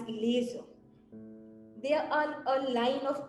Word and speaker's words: LZR: The LZR Racer, pronounced as laser, they are a line